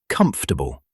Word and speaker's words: comfortable: Same trap happens with vegetable and comfortable. They both have fewer syllables than people assume.